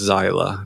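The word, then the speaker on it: Xyla: about to be six her name is zyla you spell it X Y L A where'd that come from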